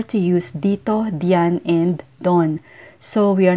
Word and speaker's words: doon: rito have no short form Dian is often pronounced as Johan Johan and ran is ran ran doon is Don Don and roon is Ron Ron Filipinos instinctively